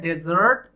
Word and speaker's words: dessert: Pronounce किया जाता है डेजर्ट, और इसका मतलब होता है मरुस्थल या रेगिस्तान। और ये है DESSERT, तो इसे प्रोनाउंस करेंगे डिजर्ट, और इसका मतलब होता